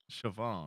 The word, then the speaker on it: Shvonne: with your last name is it Bridget Siobhan chavone Siobhan okay just like it's okay like a